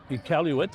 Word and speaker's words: Iqaluit: Iqaluit, I was mispronouncing that, from Iqaluit.